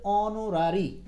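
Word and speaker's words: honorary: এই উচ্চারণের ক্ষেত্রে সাবধান এইচ থাকা সত্ত্বেও এটার উচ্চারণে হ নাই মানে এটার উচ্চারণটা হচ্ছে অনরারি সো অনরারি যেটার উচ্চারণ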